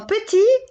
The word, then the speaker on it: petit: Dans petit, le T est une consonne muette. Je l'écris, mais je ne la prononce pas.